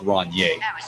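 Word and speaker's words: Rainier: way if you're drinking the beer it's it's pronounced Ron yay okay just just want to give you that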